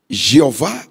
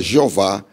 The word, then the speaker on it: Jeová: Jeová ou Javé.